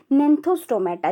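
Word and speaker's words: Gnathostomata: इसमें एग्नेथा और नेंथोस्टोमेटा, जी साइलेंट होता है, नेंथोस्टोमेटा एंड एग्नेथा।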